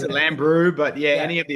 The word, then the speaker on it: Lambrou: The It's depends how you pronounce it. We've We've heard Lamra. We've heard Lam Bro. We pronounce it Lamb Brew.